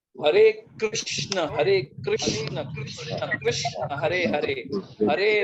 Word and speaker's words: कृष्ण: We made them healthier, वो कृष्ण का नाम हमने हेल्दियर बना दिया। बस इतनी सी बात अगर हम लोग सिर्फ जब प्रोनाउंस करते हैं, इंस्टेड ऑफ सेइंग हरे कृष्णा इसे हरे कृष्ण।